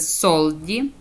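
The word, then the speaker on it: soldi: читається як с коли вона стоїть на початку слова і після неї йдуть зразу голосні та наприклад солді гроші От наприклад ес есе і наступна зразу буква О солді голосна Так коли в нас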